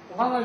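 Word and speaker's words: ご飯: 고항을 집어넣죠?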